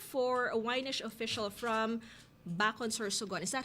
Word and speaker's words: Bacon: Sabi niya, we're proud for a Ynish official from Bacon, Sorsogon.